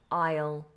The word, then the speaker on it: aisle: seat an aisle seat I always think that word is spelt different to how you would expect it to be spelled considering the pronunciation so aisle aisle the aisle seats the aisle obviously